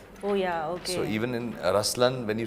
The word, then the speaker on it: Ruslaan: yeah so even in raslan when you say raslan also means the lion it's the attitude of am but the right pronunciation is rlan okay there is so